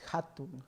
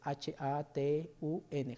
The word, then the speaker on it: hatun: el en el quecho se lee como J o se pronuncia como J Entonces por ejemplo hay una palabra que es hatun hatun es h a t u n hatun y significa grande